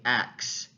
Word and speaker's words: ask: the word ask so the word ask if we were to um place it in its uh typical pronunciation right we would have the s followed by the k however certainly there are large groups of people american speakers who use the word and say acts ask me a question